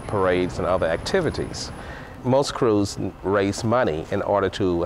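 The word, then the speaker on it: krewe: Behind the 1,200 floats and 588 marching bands are 60 parading crews, private organizations with names like Bacchus, Orpheus, Endymion, Zulu, and Rex, who put on the party. Crew is spelled K-R-E-W-E, crew.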